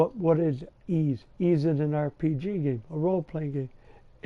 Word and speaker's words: Ys: It's not Wise. Everybody pronounces it Wise. No, it's Ys. That's how it was pronounced.